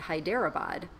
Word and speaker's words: Hyderabad: Hyderabad you know that there are different ways to pronounce that as well because I always pronounced it Hyderabad and there are people that pronounce it that way I'm probably doing it right no no people pronounce it your way as well it can be pronounced both ways and for all I